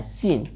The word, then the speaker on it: scene: या सीन हो जाएगा, यस के बाद आया सी हमेशा साइलेंट होता है। SCENE, तो इस सी को साइलेंट रखना है, SENE पढ़ के इसको बनाना है सीन।